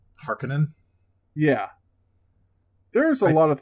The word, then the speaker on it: Harkonnen: Can we talk for a second about how like their own show pronounced Harkonnen wrong? Harkonnen?